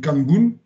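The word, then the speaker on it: 漢文: Donc en Japon, on l'appelle Kanbun. En coréen, ça se prononce Hanmun.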